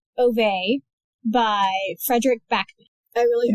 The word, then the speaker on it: Ove: I also didn't know it was pronounced Ove. Yeah, it's like Swedish or something.